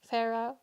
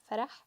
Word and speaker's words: Farah: A lot of people pronounce it wrong, like Farah or Farah here in Germany, but it's Farah.